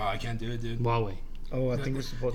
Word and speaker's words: Huawei: It looks like Hawaii. Mm-hmm. It's like an H and like U. I can't even know how to spell it. But every time I Huawei? saw it, it looked like Hawaii. But they pronounce it like Huawei or something like that.